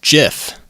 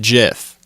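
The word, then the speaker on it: GIF: adhere to that I am also somebody who pronounces it as jiff so fight me the creator said jiff I go with the source material okay so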